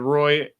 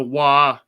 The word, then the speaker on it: Roy: So, watch the obvious, the Roy. Here I go. I did it again. The wah. I know I said it wrong in the video.